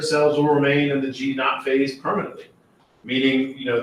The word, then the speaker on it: G0: phase that's what G some people might read that as g0 but it's pronounced G not not that it matters